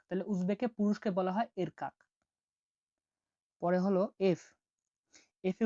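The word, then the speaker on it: erkak: ই এর উচ্চারণ হয়ে থাকে এ এর মতো, উদাহরণ হচ্ছে দেখুন, এর কাক।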